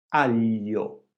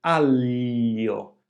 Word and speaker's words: aglio: Quindi la lingua striscia sul palato, si curva verso il basso. Gl, aglio, sbaglio.